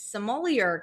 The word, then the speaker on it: sommelier: Okay, my guy, if you went and did that class and you don't know how to pronounce sommelier, I'm concerned. Sommelier. He wasn't totally off. He was phonetically pronouncing it.